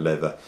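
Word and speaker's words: Läther: leather looks like lava it's pronounced leather and they released that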